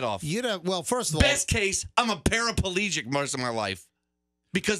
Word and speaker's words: paraplegic: to go grocery shopping it's not parapalegic it's paraplegic so here's the problem you're adding an extra syllable here's the problem you're adding an extra syllable to that word did you yell at